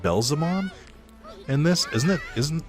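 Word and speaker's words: Beelzemon: i finally used belzomon why'd i call it belzomon actually that's a good point they pronounce it belzamon and this isn't it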